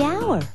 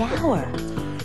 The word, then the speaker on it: hour: owner the animal the hour wa H is not a vowel sound it's a consonant sound but it's not the first sound the H is silent the hour but what about the